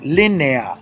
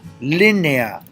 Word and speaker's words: línea: When I have 2 open vowels together, ea, it creates what's called a hiato, 2 syllables. Como línea, línea, 2 syllables. Lin, nea. The E and the A create 2 separate syllables.